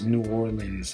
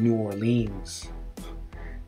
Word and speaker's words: New Orleans: this is another kicker some people pronounce this new orleans i call it new orleans new orleans with distress on war new orleans i'm going